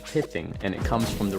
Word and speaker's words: pithing: That first word is pronounced pithing, and it comes from